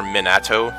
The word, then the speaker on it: Minato: of me wants to call him Minato or Minato that's how you pronounce it cuz that's that's what that's what